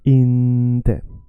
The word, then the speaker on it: inte: Oh, the word inte, let me stretch inte.